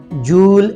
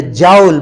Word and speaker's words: joule: Joule ladies and gentlemen different people are pronouncing this jewel is a jowl but the correct word as I learned from my teachers in the University that is Jewel so whatever you are